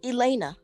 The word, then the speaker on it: Elena: Oh, you know, Elena, I've been saying Elena the whole time. No, it's Elena. You said it right.